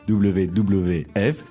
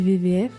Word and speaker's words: WWF: à ce sujet c'estér en français parfois la lettre W se prononce V comm on dit pas